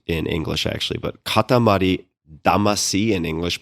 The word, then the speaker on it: Katamari Damacy: in English actually, but Katamari Damacy in English, but in Japanese, it's Katamari Damashii, which literally means clump spirit.